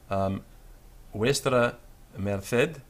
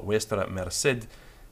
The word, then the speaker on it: vuestra merced: This is the abbreviation for usted, and it comes from vuestra merced in the Castilian pronunciation, or vuestra merced in the South American, Mexican pronunciation, which I'll call for ease of identification.